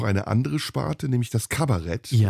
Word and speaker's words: Kabarett: In Deutschland natürlich entwickelt sich in den 60er Jahren mit Wolfgang Neuss noch eine andere Sparte, nämlich das Kabarett. Ja. Das ist ausgesprochen Kabarett. Und nicht Kabarett.